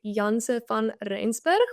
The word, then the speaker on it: Janse van Rensburg: The Afrikaans pronunciation would be Janse van Rensburg, but I think you were pretty much there.